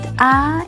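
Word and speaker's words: ㅏ: and write them together the first vowel is pronounced ah and you go down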